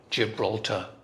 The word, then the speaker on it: Gibraltar: a rhythm stressed language some languages are syllable stressed like gibraltar and every syllable is stressed the same gibraltar in english it's gibraltar okay we may have